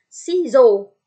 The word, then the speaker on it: ciseaux: Ciseaux. Ingat ya, tadi di apit E dan U, si A terbaca sebagai O. C ketemu I dibaca S. Jadi, ciseaux. X di akhir kata dibaca.